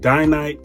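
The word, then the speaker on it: Dainite: yeah i think it's dinan i think it's pronounced dynamite dynite soul goodyear welted again these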